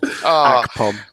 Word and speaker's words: Akpom: Honestly, I'm never going to pronounce Chubba's name properly again. Akpom.